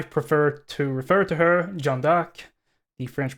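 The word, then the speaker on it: Jeanne d'Arc: or as I prefer to refer to her jandak the French pronunciation is uh one of course one of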